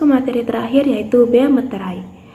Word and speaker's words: meterai: Kita masuk ke materi terakhir yaitu bea meterai. Di sini cara pengucapannya yaitu bea meterai menggunakan e.